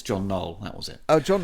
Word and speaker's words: John Knoll: I got the gentleman's name wrong. It's John Knoll.